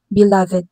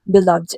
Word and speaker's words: beloved: Pero kung gagamitin natin siya as adjective followed by the prepositions by or of, mai yung kanyang pronunciation. Magiging beloved na siya.